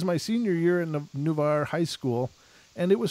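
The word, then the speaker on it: Navarre: in beach town called NAVAIR oh it's new bar new bar she says she did up in the phonetic pronunciation I love you for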